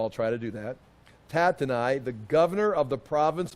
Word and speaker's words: Tattenai: Okay, at that time, Tatenai, I've got to pronounce Tatenai. I looked it up so I can pronounce it correctly. Once in a while I'll try to do that. Tatenai, the governor of the province beyond the river.